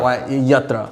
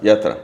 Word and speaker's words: Yathra: It's YATHRA, but I added a T, so YATHRA is how Yatra. Yatra.